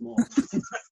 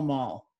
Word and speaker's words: The Mall: So the mall goes down to the Buckingham Palace, doesn't it? The Mall. Is that called Mall? The not Mall. The mall? Even though it's spelled the same way.